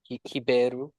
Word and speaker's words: Ribeiro: in Portuguese we'll say Ribeiro. Hiberu. Ribeiro.